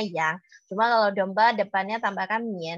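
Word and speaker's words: 羊: Sound the sheep, kambing atau domba dalam bahasa Mandarin bacanya yang.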